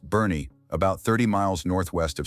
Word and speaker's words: Boerne: There's a town in the Texas Hill Country called Boerne, pronounced Bernie, about 30 miles northwest of San Antonio.